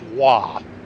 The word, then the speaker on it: Roy: I believe that name would be pronounced Wah.